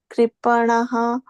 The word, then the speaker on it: कृपणाः: So give less emphasis on the PA.